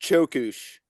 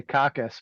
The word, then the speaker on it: Çöküş: how do you pronounce the band name it's pronounced chush it's a Turkish word that means decline or downfall I was gonna say cockus but you know everyone's got one that's one